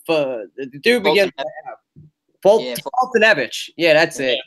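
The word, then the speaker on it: Foltynewicz: And I can never pronounce that dude's name. The dude begins with Fultonevich. Yeah, that's it. Fultonevich.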